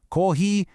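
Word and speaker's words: コーヒー: Make sure you stretch out those long vowel sounds to really nail the pronunciation right. Kohi, then pair it with the action, nomu.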